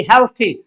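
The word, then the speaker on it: healthy: এখন হেলদি বলতে কি? হেলথি, উচ্চারণটা হেলথি। আপনি একটু ঢং করবেন, দেখবেন ইংলিশ সুন্দর হয়ে যাবে।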